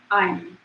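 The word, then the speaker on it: ऐं: And so her seed syllable is Aim. It's usually spelled like A-I-M phonetically, the Sanskrit syllable.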